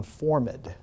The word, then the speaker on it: formed: minds are formed or to use the elizabethan pronunciation formid they're made into forms